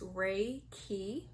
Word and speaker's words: Reiki: to get this out of the way it's pronounced Reiki the way and breaking stands for spiritually guided